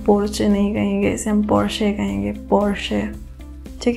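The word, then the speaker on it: Porsche: इसे हम Reno pronounce करेंगे, ना कि रेनॉल्ट प्रोनाउंस करेंगे। ठीक है, हमारी अगली गाड़ी ब्रांड है ये, और इसे हम कहेंगे पोर्शे।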